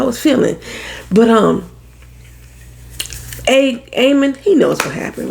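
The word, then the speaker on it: Aemond: up there I know I say Aman all the time cuz it's got a D on M but they just pronounce it aan Aon is standing up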